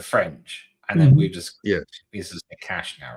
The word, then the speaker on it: cache: I know it's it's is it cache? Is that like the proper pronunciation? Because it's French. No, cash. No cash. You want to add a cash in English it's cash.